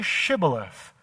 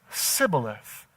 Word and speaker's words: Shibboleth: And then they would say, "Say Shibboleth." But he would always say, Sibboleth.